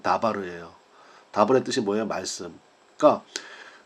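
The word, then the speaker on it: דבר: DBR이 뭐냐면 다바르예요.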